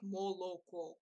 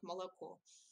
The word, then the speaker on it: молоко: for milk, and then some people say "oh" very distinctly, for like молоко. And others say it like with the sound of "ah," like молоко. But actually, it is something in between, as I say, like молоко.